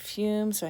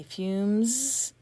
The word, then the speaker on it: fumes: That would say fum. I want fume, so I have an E to make the U say U. And I say fumes, and I have an